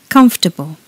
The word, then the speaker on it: comfortable: Comfortable. Comfortable. When we say this word in British English, there are only 3 syllables.